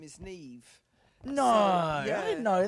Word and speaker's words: Niamh: you're a bit older, you spell Neve with the B, which I don't. I just spell it with the H.